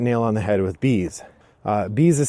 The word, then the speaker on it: Beez: anticipating for quite a long time this is bees designed by dan halstead published by next move